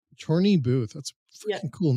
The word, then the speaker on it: Chorney Booth: how do you say your last name? Chorney Booth. Chorney Booth.